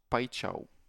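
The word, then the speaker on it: Paixão: Euh alors ça se prononce pao. Pao. Un po de brésilien m'a dit ça. C'est plutôt pao.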